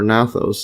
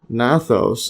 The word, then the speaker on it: gnathos: The term derives from Greek uh gnathos or nathos. See this nathos. Okay, I guess they miss they don't pronounce the G which means jaw and sto meaning mouth.